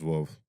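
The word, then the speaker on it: Veuve: It's Vouv, but we say That's it wrong.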